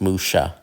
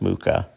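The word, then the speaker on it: Mucha: that is something uh alons Musha as a lot of people mispronounce Muka uh alfons mus Musha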